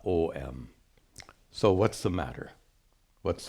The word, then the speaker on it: Om: This is a comment on my video about pronunciation of Om, because it's becoming very popular nowadays. Aum, or writing it A-U-M, both of which are absolutely incorrect.